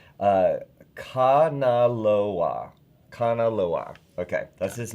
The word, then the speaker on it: Kanaloa: And thank you for the pronunciation. Kanaloa. Okay, that's his name. Did I say it right? No. Oh, I thought you were going to correct me. No. Kanaloa is the god of the sea and long-distance